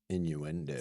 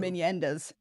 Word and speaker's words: innuendos: was some sexual innuendos. Some inendas. Yeah, inendas. Is that how they say it in Philadelphia? That's what that sounds like.